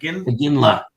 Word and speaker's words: Iginla: Iginla.